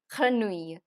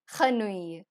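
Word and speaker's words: grenouille: here in case of granui why because whenever there is a Double L between i and e in French it's always going to remain silent so the next is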